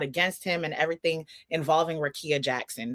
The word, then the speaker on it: Rickea: him and everything involving Rickea Jackson. That's how you say it, right? Rickea? Right, Rickea.